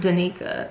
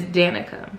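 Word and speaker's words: Danika: My friend Mel informed me unintentionally that her name is not Danica, it is Danica.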